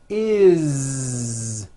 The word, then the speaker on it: is: always add the ending is with a voiced Z. Is. It doesn't matter that it's spelled with an S. It's never is, unvoiced, never. It's always is with a voiced Z.